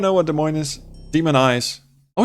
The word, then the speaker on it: Des Moines: Demon Eyes. Oh, is it Demon Eyes? I always said Demonies because it's spelled.